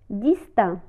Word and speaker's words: distinct: distinct distinct متميز distinct.